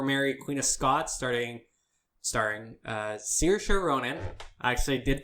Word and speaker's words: Saoirse: New trailer for Mary, Queen of Scots, starring Saoirse Ronan. I actually did pronounce that right.